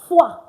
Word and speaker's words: foi: Anywhere you have OI and OY, not just OI now, OI and OY, it's pronounced wa.